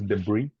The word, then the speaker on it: debris: mean yes is debris the pronunciation is debris debris debris debris debris so deis